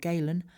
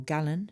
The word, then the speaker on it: Galen: herbalist uh gentleman called Galen or gallon depending on how you pronounce it created a classification system